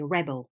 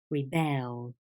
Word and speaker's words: rebel: When the word is a noun, the stress changes and you say rebel. He's a rebel. But when it's a verb, you say rebel, rebel.